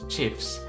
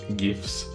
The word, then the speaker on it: GIF: to pronounce gif but the inventor of chief has said that chiefs are pronounced chiefs not gifts so if the guy